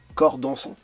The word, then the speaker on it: Corps dansant: 2023, il y a ce projet Corps dansant. Voilà, c'est ça, la bonne prononciation, avec un groupe qui s'appelle Old Prop.